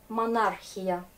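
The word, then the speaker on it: монархия: Ah ben, en russe, ces combinaisons CH, c'est souvent se prononce comme Kha. Monarchie, par exemple, monarchia.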